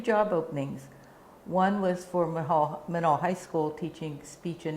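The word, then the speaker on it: Menaul: And after a while, I taught at Manal High School in Albuquerque, New Mexico, another Presbyterian boarding school, and that's where I met Jane.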